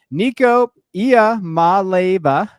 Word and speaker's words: Nico Iamaleava: I put up the pronunciation on my screen. Nico Iamaleava from UCLA.